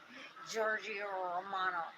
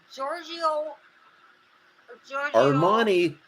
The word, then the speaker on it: Giorgio Armani: see Daryl wears cologne Giorgio Romano what do you have to pronounce it Giorgio Armani Armani come on Armani I can see where